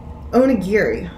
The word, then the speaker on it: onigiri: sensors and i'm like why don't you censor onigiri that's how you pronounce it do they not think western kids